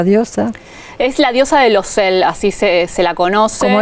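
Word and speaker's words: Laussel: Es la diosa de Losel, así se la conoce. ¿Cómo es? De Losel. Losel. Sí. Pronunciación de francés mediante, ¿no? O sea, es francés.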